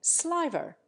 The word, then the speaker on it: sliver: also lengthen it in sliver in America the word usually rhymes with liver the short eye in